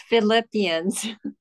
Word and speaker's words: Philippians: Philippines is that right shigeko um anyway it's Philippians Philippians yeah I stand I stand corrected I